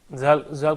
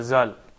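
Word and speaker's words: ذال: I think Zal could be slightly difficult to pronounce when you start learning Arabic straight, because it's the way you pronounce it from the top of your tongue to close to your teeth.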